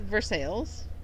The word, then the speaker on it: Versailles: Kentucky called Versailles they dispelled Versailles it is pronounced Versailles we also have an Athens instead of an